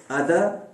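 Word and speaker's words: other: उसी हिसाब से ये जो आर है अदर, ये भी नहीं पढ़ा जाएगा। जब आप इसको आइसोलेशन में बोलते हैं, यानी आप इसी एक लफ्ज को बोल रहे हैं, तो आप यहां पर आर नहीं बोलोगे, अदर।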